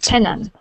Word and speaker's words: tenant: tenant okay tenant tenant tenant tenant okay make sure to pronounce the T at the end tenant tenant there you